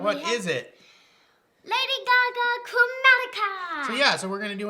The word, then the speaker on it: Chromatica: Lady Gaga, Chromatica.